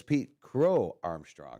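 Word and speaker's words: Pete Crow-Armstrong: But it's Pete Crow Armstrong. Is how it's pronounced.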